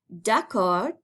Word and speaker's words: d'accord: D'accord, d'accord. And again, that D is silent at the end.